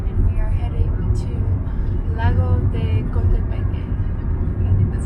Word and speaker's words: Lago de Coatepeque: Today we are in an Uber and we are heading to Lago de Coatepeque. I think that's how you pronounce it.